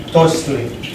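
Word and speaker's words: tochtli: Tochli. So what's cool about Nahuatl is that since we use the alphabet that we're used to, the way it's spelled is exactly how it sounds.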